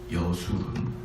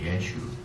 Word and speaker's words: 여수룬: 여수룬. 원 발음은 예슈룬입니다. 예슈룬. 근데 우리나라 말로 할 때는 여수룬이라고 표현합니다.